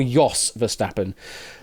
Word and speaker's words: Jos Verstappen: Yeah, it's more, you pronounce it more Jos Verstappen, but yeah, Jos, Jos, or Jos Verstappen.